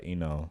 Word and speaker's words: Ino: Last episode I watched was Sakura versus Ino. Wait, how you say her name? Inoue? No, Ino.